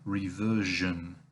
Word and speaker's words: reversion: But there's also reversion and diversion that we get from that. Now again, as with those mission words, the SI is pronounced as a je, which is marked like this phonetically.